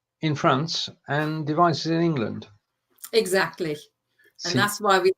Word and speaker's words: England: Except you need to pronounce it in German, so it's in England. England.